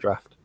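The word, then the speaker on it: draught: particular type of beer it's pronounced Draft come on Pat draft it's pronounced what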